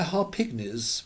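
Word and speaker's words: Harpignies: gloomy oh yes by har pigis with the accent on the pig it's worth three times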